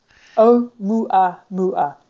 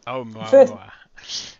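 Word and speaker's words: ʻOumuamua: change of trajectory due to mass loss of Oumuamua, I can't even pronounce that. How do you pronounce that, Michele? Oumuamua. Oumuamua.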